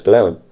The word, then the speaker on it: Golowan: The natural way for us to say it down here is Golowan. Now, there are those people in the Cornish language movement who say you can't say it like that. But that's the way we pronounce that particular sound down here.